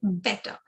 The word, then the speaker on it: better: Batter is when you open your mouth out wide. So it's batter versus better. So you can see how my lips are moving, and that's the difference in pronunciation.